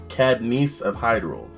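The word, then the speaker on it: Cadence of Hyrule: It's Cadnice of Hyrule. At least I think it's pronounced Cadnice, to be really honest.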